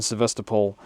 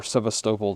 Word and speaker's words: Sevastopol: Ukrainian missile strike in Sevastopol, or Sevastopol, depending on how you wanted to pronounce it.